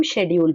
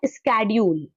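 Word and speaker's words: schedule: इसको हम शेड्यूल पढ़ते हैं। आज की डेट में इसको पढ़ा जाता है स्केड्यूल। तो पुराने लोग इसको शेड्यूल पढ़ते थे। आज इसका प्रोनाउंसिएशन चेंज हो गया। आज इसका प्रोनाउंसिएशन चेंज हो गया, आज इसको स्केड्यूल चेंज बोलने लगे।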